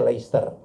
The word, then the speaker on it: Leicester: Nih Manchester betul, tapi kalau Leicester itu bacanya Leicester.